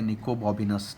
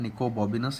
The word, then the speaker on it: Nicobobinus: lesson number 1, that is Nicobobinus, or even you can say Nicobobinus. ठीक है, Nicobobinus is the right pronunciation.